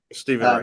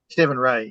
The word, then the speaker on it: Stephen Rea: I think that's how you pronounce right, REA. Stephen Wright. Um, Stephen Ray, yeah.